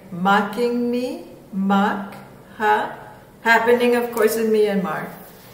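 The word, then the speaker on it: Mocha: Powerful cyclone Maka, which is actually pronounced Makha.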